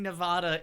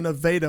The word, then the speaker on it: Nevada: in Missouri, there's a Nevada, Missouri. And it's always been Nevada, Nevada, though it's spelled different.